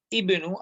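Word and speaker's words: ابن: But here I'm saying ibnu, I'm pronouncing hamzatul wasl. Why? Because there is nothing else before that. Is there any other word? So, why will I not pronounce it?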